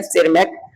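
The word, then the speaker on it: Tschermak: छोटू लिखा हुआ है टी, आगे साइलेंट है। सेरमैक ऑस्ट्रिया के थे, जो तीनों इंडिपेंडेंटली इस वर्क को पुनः पब्लिश किया।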